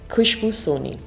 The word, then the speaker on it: Khushbu Soni: What is the correct pronunciation for your name? Khushbu Soni.